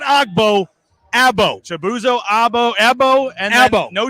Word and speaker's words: Agbo: going not ogbo chabuzo ebo and elbow no G we found out the g is silent it's not agbo it's and here is